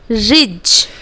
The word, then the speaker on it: ridge: Okay, next is ridge. Okay, so D we will not pronunciate as because D is considered as silent letter over here.